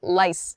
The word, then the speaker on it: lice: lice rice and lice sometimes people have difficulties making the r and the L sounds very clearly words such as these so rice rice um so when again exaggerating that sound but rice my whole mouth comes together to make that R sound initially rice rice uh when I make the l sound for lice lice my tongue is touching the top of my mouth lice but and